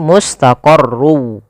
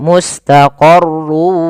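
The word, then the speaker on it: مُسْتَقَرٌّ: cara pertama langkah pertama masukkan tanwinnya huruf wau sehingga suara n-nya hilang tinggal ganti wa mata mustaqarrun awalnya menjadi mustaqorru karena dia bertemu wau masuk ke WA Langkah kedua ditahan wwya mustaqoru Kemudian pada ada madii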